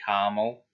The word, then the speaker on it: caramel: the fact that um caramel is spelt c-a-r-a-m-el but americans say carmel like there's no a in between the r and the m because that's been bugging